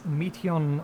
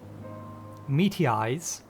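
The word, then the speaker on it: Meteion: It is Meteon, or the Meteeyes, I think is how it's pronounced.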